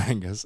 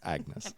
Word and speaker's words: Agnes: Angus yes Angus um it's not Angus it's Agnes Back in Black that's